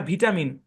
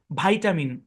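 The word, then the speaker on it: vitamin: এই যে শব্দটা লেখা এই শব্দটা ব্রিটিশে উচ্চারণ করা হয় ভিটামিন ভিটামিন আর এই সেম শব্দের উচ্চারণ আমেরিকায় করা হয় ভাইটামিন ভাইটামিন এখানে এর সাউন্ড হবে শোয়া ভাইটামিন ভাইটামিন ভাইটামিন ব্রিটিশে উচ্চারণ করে কি ভিটামিন আমেরিকান উচ্চারণ কি ভাইটামিন আমরা গভীরে ঢুকবো আগে মূল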